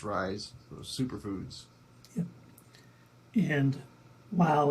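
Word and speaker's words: Ryze: think we're both having the Rizzy mushroom coffee yeah um I think it's pronounced rise those superfoods yeah and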